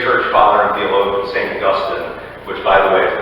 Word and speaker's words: Augustine: Augustine, which by the way is the correct way to pronounce that, famously said, "God has made us